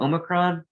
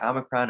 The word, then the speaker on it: omicron: this let's turn to omicron um and you can pronounce it either way omicron omicron it's basically an accent thing um and so you